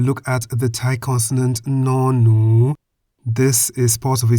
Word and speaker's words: น หนู: The Thai consonant no-nu sounds like an N at the beginning and end of a syllable.